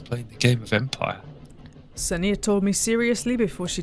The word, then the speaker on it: Ksenia: I'm assuming the K is silent. Ksenia Petrovna Volkova, and I asked her how much she knows so much about locomotives.